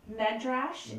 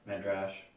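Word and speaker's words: Medrash: yeah he's he's uh would you say his name was meddrash m-e-d-r-a-s-h and last name is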